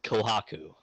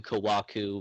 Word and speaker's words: Kohaku: My name is Kohaku. Kohaku. Or you can just say it really fast and it's just Kohaku. I'd say it both ways. But it's spelled KO''HAKU. Okay. Kohaku, Kawaku, whatever you want.